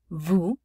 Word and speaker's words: vous: Vous, S is not pronounced.